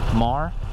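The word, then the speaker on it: Maher: Also, speaking of Mrs., there's a girl named Kate Marr. I think that's how she would pronounce her last name, M-A-H-E-R, I think.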